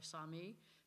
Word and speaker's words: Salmon: I know it's spelled like Salmon, but it's really Sami.